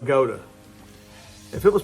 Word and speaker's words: Bogata: fun so um just outside bogat and I pronounced it bogatar the people from around there were quick to correct me and say that the town is pronounced Goa if it was pronounced bota it would have